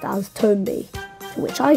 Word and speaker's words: Tombi: it's actually confirmed that the protagonist name is pronounced as tomby to which I say cool story The artol